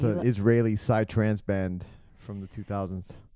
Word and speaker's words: psytrance: Like, it's an Israeli psytrance band from the 2000s. Say that genre again, please. Psytrance. It's Israeli. Yeah. Israeli psytrance. And psy is spelled like P-S-Y, which means psychedelic.